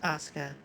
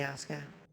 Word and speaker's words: Asuka: Yeah, no, it's pronounced Asuka. The U is silent. In most Japanese names where there's an SU, the U is silent. Or in most Japanese words, period. The U is silent, so it's like TSU is S. ASU is us.